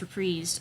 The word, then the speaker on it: Reprise: fully artist-owned label um reprise records that is how it's pronounced reprised um so that he